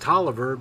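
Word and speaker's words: Taliaferro: in virginia it would be their name is pronounced toliver but it's spelled talifer just as an example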